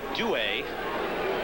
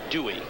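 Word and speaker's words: Duhe: A.J. Douay, and that now is the preferred pronunciation. No more A.J. Dewey. That's Douay, also, he says.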